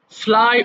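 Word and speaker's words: flew: ছু পছন্দ করা োজেন ফ্লাই ওড়ানো ফ্লাই ফ্লু ফলোন আ এটা কিন্তু অধিকাংশ জায়গায় ফ্লিউ পড়ানো হয়বা বা ফ্লিউটা একটা রং প্রনান্সিয়েশন ইট মাস্ট বি ফ্লু এইযে আই হ রেটেন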